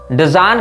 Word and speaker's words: Dzyan: अब डेजान का जो उच्चारण है उसमें हमको हो सकता है थोड़ी त्रुटि होती हो, लेकिन मैं आपको इसकी स्पेलिंग बता देता हूं, DZYAN।